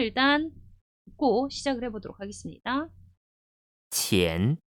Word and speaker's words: 钱: 돈 전자 그대로 발음 한번 해볼게요. 钱, 钱.